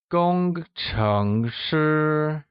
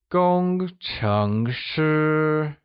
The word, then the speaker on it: 工程师: Gong is pronounced using a high-level tone, like gong. Cheng is pronounced using a mid-rising tone, like cheng.